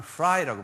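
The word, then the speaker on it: Frey: 1809년에 유대인 중에서 영국에 아주 크리스찬이 나오는데 조셉 사무엘 프레이라는 사람이에요. 이걸 발음을 프라이라고 발음하는데요.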